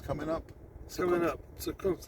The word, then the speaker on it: Zukunft: Zukunft, like batter up. Batter up. That's how you say the. Zukunft.